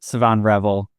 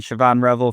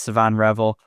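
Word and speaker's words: Shavon Revel: in the first round, my dream scenario is Savon Revel. And first of all, I'm told that's how his name is pronounced from people a lot smarter than me. I've been saying Siobhan Revel for a long time.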